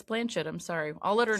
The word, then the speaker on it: Blanchett: If it were my choice and I became famous, I would go with Blanchett because that rhymes with planet and I feel like that gets you into a hip-hop verse much more like easily.